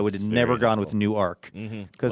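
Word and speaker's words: Newark: That is a great pronouncer. I I really not have Do you recall that from the past that it's New Arc?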